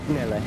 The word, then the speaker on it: Nele: Nele.